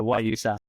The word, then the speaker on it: guayusa: It's like the way we say it is like G and then Y, like Y, U, sa. So like the letter Y, the letter U, and then sa. So guayusa essentially is kind of